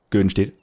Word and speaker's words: Göddenstedt: auch es wird eigentlich richtigerweise göen steht ausgesprochen so ganz ganz kurz weil das ist ja nur ein ö und 2D und deswegen müss man da die Betonung anders legen aber das ist mir